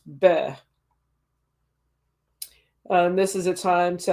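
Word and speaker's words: Beith: Interesting that I was scrolling down and I noticed the name for this month is Beth, pronounced Beh.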